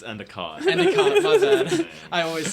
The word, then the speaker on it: Endicott: nigg hello but did i say your last name wrong it's endicott any comment i always say it wrong okay